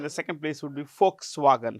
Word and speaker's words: Volkswagen: second place would be folks swagen how do we pronounce that folks remember this it's written folk like this it's written with a V but it's pronounced with an F so it's folks wagon folks means people wagon